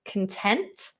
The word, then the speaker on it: content: The stress is different, so it slightly changes the vowel.